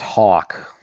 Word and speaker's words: Houck: It's Tanner Houck. Am I right on that? It's pronounced Hawk.